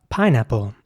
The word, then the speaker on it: pineapple: Next up, pineapple. Pineapple is spelled P-I-N-E, and then apple, so A-P-P-L-E, and it's pronounced pineapple.